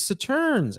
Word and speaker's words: Sauternes: Sauternes, if we're pronouncing Sauternes. that correctly. Say it quickly. Sauternes. Sauternes. It is Sauternes, and we're going to talk to you about.